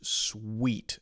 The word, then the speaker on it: suite: is the Sweet Room pronounced exactly the same as s-w-e-e-t okay my Swiss sweet